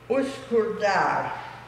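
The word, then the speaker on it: Üsküdar: So one of the reasons we took this boat trip is we were going to, and I have to sort of semi-spell it out, Uskurdar.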